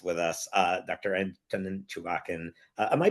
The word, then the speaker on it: Chuvakin: Anton Chewbaccin. Am I pronouncing that correctly by the way?